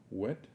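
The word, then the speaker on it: whet: Wet my whistle. Wet, W-H-E-T. W-H-E-T. Wet. Wet. We say wet. Proper pronunciation of WH together is with a H sound.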